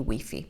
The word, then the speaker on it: Wi-Fi: But with many technology words, we use the English in Italian and we use or try to use the English pronunciation.